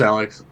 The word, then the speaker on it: Aleks: We got, is it pronounced Aleks or Aleks? oh, just Aleks. Like Aleks. regular Aleks.